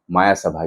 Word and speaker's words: मय सभा: बात करेंगे आज माया सभा की। वैसे मैं पहले ही बता दूं, इस मूवी का नाम माया सभा नहीं, मय सभा है।